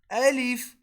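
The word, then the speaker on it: ألف: will be called a leaf repeat after me alif next one so the method of pronouncing ba is when our upper lip and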